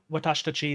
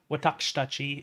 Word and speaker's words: 私たち: It's watashitachi is usually is how you say we. Watakshitachi is kind of the refined way of saying that.